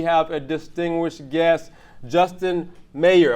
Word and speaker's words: Mayer: Am I saying it right, or is it Meyer? Meyer. How are you, Justin? Doing well. That Meyer thing. It's common. It's not like John Mayer. It was spelled differently, right? Yeah, he spelled the same. Is it the same? He says Mayer. Are you? He says Mayer. Yeah. And you say Meyer.